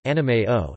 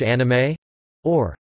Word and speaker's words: anime: The pronunciation of anime in Japanese differs from pronunciations in other languages such as Standard English pronunciation, which has different vowels and stress with regards to Japanese, where each mora carries equal stress.